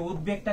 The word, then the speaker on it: উদ্বেগ: বহ ছিল কোথায় এই উদ্বেগটা কিন্তু পরীক্ষায় বারবার আসছে উদ্বেগ এটা কিন্তু বফলা উচ্চারণ বহাল আছে।